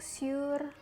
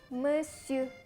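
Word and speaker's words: monsieur: miss you atau share Mister ini aku sering banget dengar orang masih menyebut pakai ngomong siur atau monchare bukan bukan gitu cara bacanya Yang benar itu mesiu mesiu peyeum mesiu hai lalu ada kata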